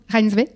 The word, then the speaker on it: Reinsve: Comment t'as prononcé son nom? Reinsve.